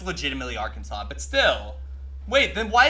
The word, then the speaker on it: Arkansas: I don't know no it's pronounced differently it's Arkansas it's are Kansas stop it no it's legitimately Arkansas but still wait then why is Kansas not